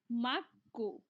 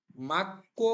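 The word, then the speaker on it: 맑고: 11 মাস পর্যন্ত এনুন মাক্কো স্যার এটা মাকো উচ্চারণ হবো না মাক্কো হবে ক মাক্কো গিয়োগ বা সিমের পরে গিয়োগ থাকলে এই গিয়কটা ক এর মত উচ্চারণ দিবে মাস্তক পরিষ্কার এবং পরিষ্কার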